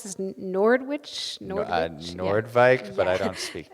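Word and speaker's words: Noordwijk: And do you pronounce this Nordwich? Nordwijk, yeah.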